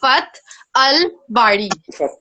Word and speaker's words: Fath al-Bari: Like, even I mean, even people I who may are not be able to pronounce it properly, but its name is Fath Fath Al Bari.